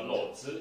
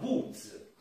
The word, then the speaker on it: Łódź: Nessuno mi capiva perché non si pronuncia Lodz e io non sapevo come cavolo mostrare, e quando poi finalmente ho mostrato come si chiamasse, loro mi hanno detto: ah, Woods, pensa tu che differenza.